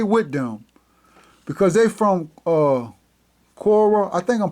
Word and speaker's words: Quora: How do you pronounce Quora? Cora.